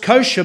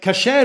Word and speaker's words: kasher: today as being pronounced kosher by a pronunciation. Kosher is the Ashkenazi or Yiddish version of kasher. Okay? So kasher is the Hebraic pronunciation, but kosher is the Ashkenazi version.